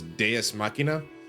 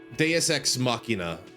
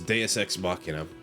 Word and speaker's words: Deus Ex Machina: but the end is Deus Machina. Deus Ex Machina. Yeah. That's how it's usually pronounced, I believe, is Deus Ex Machina.